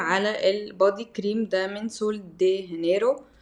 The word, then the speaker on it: Sol de Janeiro: البدي كريم ده من سول دي هنرو او سول دي جينيرو طبعا النطق الصح بتاع سول دي هانرو عشان هي بقى بالاسباني وكده وهو اسمه برازيليان بوم